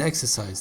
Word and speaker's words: exercise: more common collocation and exercise the first syllable is stressed and let's end this